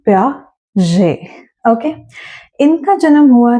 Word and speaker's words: Piaget: Gene प्याजे, यहाँ ध्यान रखेंगे जो लास्ट का ये टी है दैट इज साइलेंट। तो जब आप इनका नाम लेंगे आप प्यागेट नहीं प्याजे बोलेंगे। सो it's gene प्याजे।